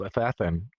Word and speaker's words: Athathan: And there's this guy called Athathan. That's actually how you say his name, like assassin, but with a th.